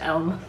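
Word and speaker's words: yelm: that we can pronounce that's when you find out it's like yam or the silent or something yeah the y is silent it's just elm yeah i don't know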